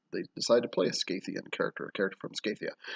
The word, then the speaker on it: Skathia: So this is about Skathia, also pronounced Skathia.